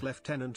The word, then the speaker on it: lieutenant: Lieutenant, as the TTS said, but in the UK it is pronounced lieutenant.